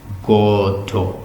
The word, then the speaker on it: Godot: Beckett said we should pronounce it with the emphasis on the first syllable, Goto.